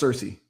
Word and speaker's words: Cersei: No, it's Cersei. Oh, damn. I thought the mom's name was Circle. My bad. No, it's Cersei. It's Cersei.